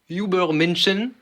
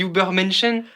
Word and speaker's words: Übermensch: Moi, clairement, il le voit comme the Übermenschen en allemand.